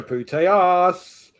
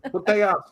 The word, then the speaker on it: Putellas: We've got Alexia Putellas. We've got Alexia. They can't pronounce it properly. And she spends the whole game going, Putellas. To the crowd. Putellas.